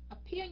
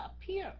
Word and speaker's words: appear: Appear nhấn âm thứ hai mà. Luca Pacci. Nó là nhấn âm thứ hai phải không các anh chị? Mình đọc là appear, mình đâu có đọc là appear đâu.